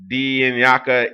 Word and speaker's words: lingaka: The ancestors contact the living through dreams, for example, and traditional doctors are Lingaka, a Sesotho, pronounced, wow, Dinyaka Iya Sesutu.